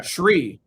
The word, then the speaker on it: Sree: years, I pronounced your name with an H after the S. Yeah. Sree.